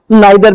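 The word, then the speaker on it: neither: है नीदर का, और इनके दो साउंड हैं, दो प्रोनाउंसिएशन है, या तो आप इसे ईदर बोल सकते हैं या आइदर। ऐसे इसका जो अपोजिट है उसको आप नीदर भी बोल सकते हैं और नाइदर भी बोल सकते हैं।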